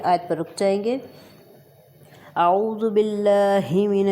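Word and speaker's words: أعوذ: باللہ پڑھی جاتی ہے، اعوذ، زال نرمی سے، اعوذ باللہ من الشیطان،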